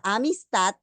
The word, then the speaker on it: amistad: Si vemos la palabra amistad, la mayor fuerza de voz está en la última sílaba, allí tengo la sílaba tónica.